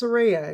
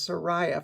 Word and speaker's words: Saraya: they're a New Jersey band and it is pronounced serea if you're like me you may have been mispronouncing it as Sara for the past 30 years but it is serea which was s's middle name uh they're a